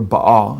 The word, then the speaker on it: Baal: it b a l how the Bible spells Bale or Baal as it's pronounced in Hebrew uh which is the Canaanite